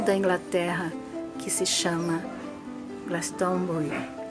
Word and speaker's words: Glastonbury: Inglaterra que se chama Glastonbury, ou para nós portugueses Glastonbury, né? Que se fôssemos ler literalmente, pronunciaríamos assim.